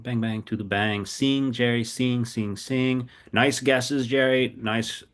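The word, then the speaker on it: sim: Yeah, it's it's singing spelled s i m sing pronounced. I don't have a good pneummonic device for you, but it's somehow pronounced like sing kind of a bit like that.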